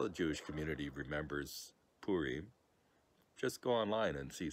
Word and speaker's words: Purim: actually the establishment of another jewish peace called purim now it's about p-u-r-i-m but don't pronounce it purim that's that's not right purim